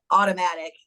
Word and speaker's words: Autumnatikk: My Instagram handle is automatic is how I pronounce it. It's AUTUMNATIKK.